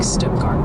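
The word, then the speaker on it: Stuttgart: They're gently reminding us that Stuggart, Arkansas is more like Stuggart, rhymes with cart, and West Helena is Helena.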